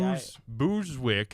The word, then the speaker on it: Busick: I always add, but No, it's actually- Busick.